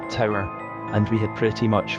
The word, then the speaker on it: tour: About halfway through our 12-hour tour, pronounced tower, and we had pretty much finished and were making sure everything was tied down securely for the rig move.